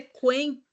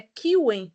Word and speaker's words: Qwen: E eu já vi que eu pronunciei errado, né? Eu falei Quen. Você fala é Kiwen, é isso?